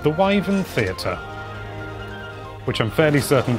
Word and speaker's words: wyvern: classified as bird wyvens i've heard some people pronounce it as weapon which is fine that's another pronunciation it's not the pronunciation i use and i should know because there's a theater near me called the wyven theater which i'm fairly certain does not have